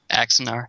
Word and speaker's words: Axanar: Now, tell me if I'm pronouncing this wrong. Is it Star Trek Axanar? Axanar, yeah.